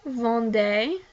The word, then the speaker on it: vendez: You formal sell, vous vendez. The EZ is pronounced like A.